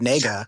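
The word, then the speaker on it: 那个: it was he used the chinese filler word nega oh yes which sounds like the word we're not supposed to say and just them just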